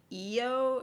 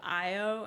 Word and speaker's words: Io: other like background characters they said eio instead of IO and they just never addressed like it's like they read the script and they were like didn't know how to pronounce it.